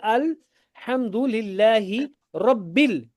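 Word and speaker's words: الحمد لله رب: you will not pronounce this. This will be silent. You will pronounce this. So that's why we say Alhamdulillahi Rabbil.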